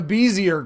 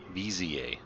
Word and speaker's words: Bezier: I ended up what I thought was the Bezier curve, but I learned that I was completely wrong because the dictionary told me BZA that it's a BZA curve and Wikipedia actually